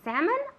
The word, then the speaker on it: salmon: Did you end up getting the salmon or the cod? I ended up getting the salmon. Okay. En inglés la S de salmón no se pronuncia. Decimos salmon, no decimos salmon, decimos salmon.